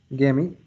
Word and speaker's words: gamete: Gamete.